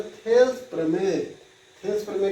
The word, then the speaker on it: Thales: या अथवा मतलब होता है इसका दूसरा भाषा में, इसी का नाम है थेल्स प्रमेय। थेल्स प्रमेय का जो स्पेलिंग है वो इस तरह से है, THALES apostrophe theorem, THEOREM theorem.